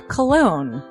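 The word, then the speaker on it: Colon: a self-published book by Christopher cologne Chris cologne smells good to me look at her I broke that cold little exterior but it is spelled c-o-l-o-n but double jackpot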